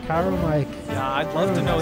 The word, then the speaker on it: Chiromite: Chiromite.